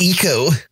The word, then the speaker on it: Ico: It's pronounced ECO.